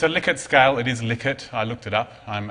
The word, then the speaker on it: Likert: Likert scale it is Likert I looked it up I'm and heard him pronounce his own name it's liket not like it so if it's a